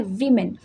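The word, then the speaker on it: women: तो main मीन्स बहुत सारे पुरुष, एंड विमेन, क्योंकि यहाँ पर MEN है तो इसका प्रोनाउंसिएशन होता है वीमेन।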